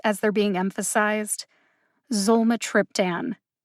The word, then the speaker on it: Zolmitriptan: four syllables in zomatryptan the syllables with the emphasis are zol and trip zolma triptan zole has the secondary emphasis and trip has the primary emphasis that means that i put more emphasis on the syllable trip than any other syllable in zulma triptan